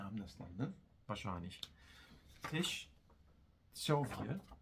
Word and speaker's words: Teściowie: Teściowie. Teściowie. Also spricht man das C nicht als C aus, sondern man nimmt das rein ins Sch. Ja. Tsch mit Tsch.